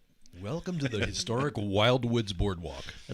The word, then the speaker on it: Wildwoods: You You have to say it right. Wild Woods.